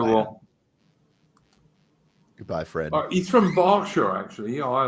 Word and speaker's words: Berkshire: It's like, yeah, but it's spelt Berkshire. And it's like, yeah, but it's pronounced Berkshire.